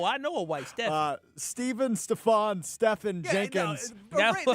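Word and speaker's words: Stephan: Stefan it's actually Steven, but it's spelled S-T-E-P-H-A-N.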